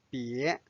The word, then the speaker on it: 别: 别 do not 波也别 second tone 别 Now let's study this conversation.